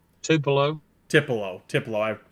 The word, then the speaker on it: Tupelo: five uh, five five miles or so from Tiplin, you said. Tupelo. Tipo. Tip. I'm pronouncing it wrong.